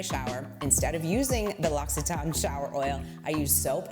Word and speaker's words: L'Occitane: And this is the L'Occitane, which yes, I did find out how to pronounce it, and it's L'Occitane, not L'Occitane, L'Occitane, and it is their shower oil.